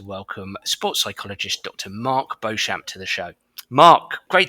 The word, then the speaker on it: Beauchamp: So, as you'd indicated, my name's Mark Beauchamp, but pronounced actually Beauchamp in the UK.